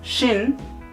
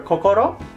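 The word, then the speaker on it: 心: And then another part in below, it's pronounced shin or kokoro.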